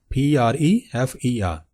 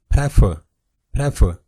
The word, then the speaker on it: prefer: The very first word is prefer. What majority of the people pronounce it? Prefer.